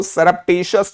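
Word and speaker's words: surreptitious: तो इसको सरप्टिशियस बोलेंगे भाई, टेशियस नहीं बोलेंगे।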